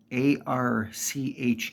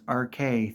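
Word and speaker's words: Arche: not AR or Arch there's an e at the end of it and it is said thousands of times in this game pronounced RK think of it as a r k a y it is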